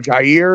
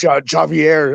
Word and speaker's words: Javier: I said I will what's her name jair or some he's like it's pronounced Javier I was like I don't